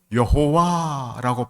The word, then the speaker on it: 여호와: 그리고 여호와는 사실 정확하게 발음할 수 없는 독특한 단어를 번역한 말이 여호와입니다. 왜 독특하냐면이 단어에는 모음이 없습니다. 자음만 있어도 그 읽기가 어렵죠. 그래서 여호와라고 발음하기도 하고 어떤 사람은 야회라고 부르기도 합니다.이 여호와의 이름이 나올 때마다